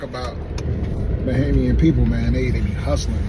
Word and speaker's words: Bahamian: Bahamian. Am I saying it right? No, Bahamian.